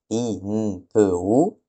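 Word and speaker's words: Inpu: Et en égyptien ancien il se dit Inpou.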